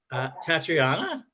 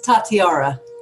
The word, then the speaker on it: Tatiara: I mispronounce it all the time. What is it? How to do it? Teach them how to do it right. It's Tatiara. Tatiara.